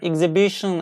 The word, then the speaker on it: exhibition: we shouldn't do that broadly speaking we don't pronounce the H invert imported from French like our owner air exhibition and vehicle they came from French language and age in these words are not pronounced our honor air exhibition